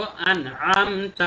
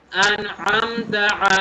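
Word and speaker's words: أَنْعَمْتَ: তারপরে সিরাতাল্লাযীনা আন'আমতা আলাইহিম, দুইটা জিনিস খেয়াল রাখবো। আন'আমতা আইন গলার ভেতর থেকে, তারপরে আবার আলাইহিম এখানে আইন গলার ভেতর থেকে। আন'আমতা আলাইহিম, আবারও বলছি সিরাতাল্লাযীনা আন'আমতা আলাইহিম।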